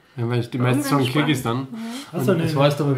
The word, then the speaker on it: Kirgisistan: Du hast es sogar richtig ausgesprochen. Was? Kirgisistan. Ja, weil die meisten sagen Kirgisistan.